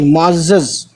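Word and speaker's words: معزز: मुअज़्ज़ज़ लिखते हैं, मीम आइन जे और फिर जे, ये है मुँह आज जे को, इस वाले जे को दो बार पढ़ेंगे, मुअज़्ज़ज़, सॉरी मुअज़्ज़ज़, ठीक है।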